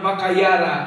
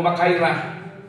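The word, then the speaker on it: μάχαιρα: is called Rompaya or Makayara o makaira. Depende na basta basa.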